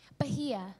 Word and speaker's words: Bahia: So, I'm very sorry if I do bad with the pronunciation, but... About my name? Yeah, otherwise... yeah, it is Bahia? Bahia.